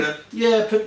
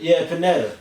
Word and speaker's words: Pineda: Pineda. Pineda.